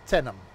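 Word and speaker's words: Teynham: Pronounced Tenham.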